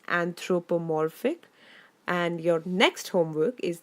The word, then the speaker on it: anthropomorphic: I have used here is anthropomorphic notice the pronunciation guys it's anthropomorphic and your next homework is that you have